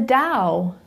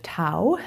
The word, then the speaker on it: Tao: into down so the Dow just means the way and so it's as you can see on your screen pronounced Dow instead of Tao as it might look and the Dow is